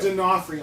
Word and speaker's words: D'Onofrio: Vincent, how do you pronounce his last name? Vincent D'Onofrio. D'Onofrio, thank you.